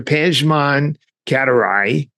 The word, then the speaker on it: Pejman Katiraei: Pan Katarai. Did I pronounce that correctly?